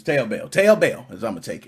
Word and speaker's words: Taobao: I don't know how you pronounce that. Is it Taobao? Taobao? I don't know. It's Taobao.